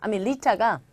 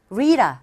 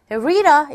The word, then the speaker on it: Rita: 리타가 사실 리타도 발음할 때 리타가 아니라 리다 이렇게 발음되죠. 리다 왜일까요? 네, 모음 I와 모음 사이에 T음이 들어가 있죠. 그래서 이럴 때는 R에 가까운 소리로 들리기 때문에 발음할 때 원어민들은 Hey Rita 라고 하지 않고 Hey Rita 이렇게 발음합니다.